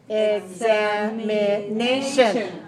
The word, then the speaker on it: examination: it so we have examination examination five syllables stress the the fourth five for examination and what's a short